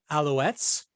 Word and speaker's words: Alouettes: the CFL the Edmonton Eskimos beat the Montreal Alouettes please tell me if I'm pronouncing that right yeah you are okay the